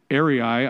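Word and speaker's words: airei: means cuts off and it's Ari if I'm pronouncing it right a i r EI I and it means to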